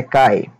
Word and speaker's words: kite: essa palavra aqui perto kite parece quente né mas é cai ioiô também é a